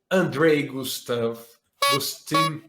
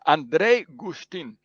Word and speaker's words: Andrej Guštin: i have a friend from slovenia my friend andre gustav justin no andre andre how do i pronounce her name you just did me a second ago yeah it's andrei gustin thank you andre for coming it's a pleasure